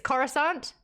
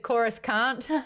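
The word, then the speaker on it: Coruscant: was trying to get me I like this corusant I said chorus can't yeah that's fair K 100% said tattooing incorrectly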